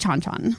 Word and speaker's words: Chan Chan: that I've been and I remember it being pronounced chonchon okay so chonchon is